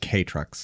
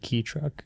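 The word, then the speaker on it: kei truck: And they're they're pronounced K trucks. K trucks. Okay. A video I watched said key truck.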